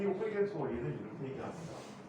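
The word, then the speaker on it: Huygens: 독일어에서는 이 스펠링을 후이겐스라고 읽어요.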